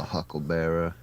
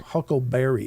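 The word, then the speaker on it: huckle bearer: I'll be a hucklebearer. Yeah. Which is the correct pronunciation, by the way. He didn't say I'll be your huckleberry.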